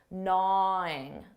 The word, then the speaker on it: gnaw: contraction in spoken English notice that pronunciation for gwing that g is silent na na her comments been